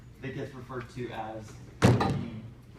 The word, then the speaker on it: Nevi'im: So how you say it, Nevi'im? Nevi'im, yeah.